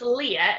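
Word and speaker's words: Lir: Now, this is pronounced Leah as in the way that Leah, to leer at someone, so L-E-E-R.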